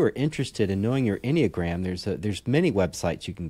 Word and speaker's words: Enneagram: to spell that, it's Enneagram. Enneagram. Yeah. So yeah, like you said, like just a telegram. That's right. That's right. Without tele. Without tele and with any in the front.